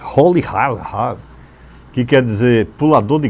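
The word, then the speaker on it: Rolihlahla: Nelson está completando hoje 95 anos, hospitalizado, e o nome de Nelson é até difícil a gente pronunciar aqui, é Holihar, que quer dizer pulador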